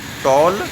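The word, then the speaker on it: Ptolemy: कौन है, टॉलमी। देख सकते हैं TOLEMY, टॉलमी। पी यहाँ हमारा दोस्तों साइलेंट है।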